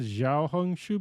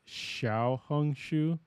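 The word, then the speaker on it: Xiaohongshu: uh xia hung Shu I've been saying it wrong I said xia hung Shu before it's Shia hung Shu um so thank you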